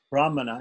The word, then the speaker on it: brahmana: brahmana from hana right if it's a long a bra brahmana it refers to the text brahmana the texts like the samitas brahmanas and punishads and if it's a short a but it it refers to the actual priest the person who's the